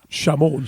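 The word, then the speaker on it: Szymon: But but it's pronounced properly. Shamon.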